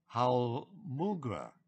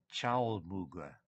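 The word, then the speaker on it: Chaulmoogra: And the substance is derived from the seed of the, and I think it might be pronounced Chalmugra as well, plant.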